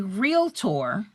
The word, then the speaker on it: Realtor: You are a licensed real estate agent and a realtor. And again, that's only two syllables there, guys.